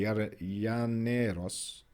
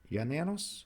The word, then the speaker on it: Llaneros: Probably Llaneros. Llaneros? Because I know in Spanish when there's a double L, it's pronounced as a J. Yeah. So Llaneros probably.